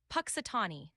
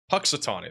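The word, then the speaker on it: Punxsutawney: It's pronounced Patatani. Patitani.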